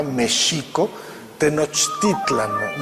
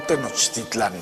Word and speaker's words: Tenochtitlan: nicks sino el acento estaba en la segunda sílaba méxico-tenochtitlan no tenochtitlán veces la pronunciación prehispánica que después fue cambiando